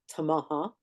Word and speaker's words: Tamaha: first one that I heard say Tamaha, which would be the more correct pronunciation, but he uh he